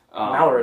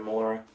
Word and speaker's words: Melora: I think that's how you say her name, Melora. That sounds right. Malora doesn't sound right. Yeah. So it's gotta be Melora.